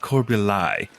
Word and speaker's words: Corbului: So it's spelled Corbului, but everybody calls it Corbuli.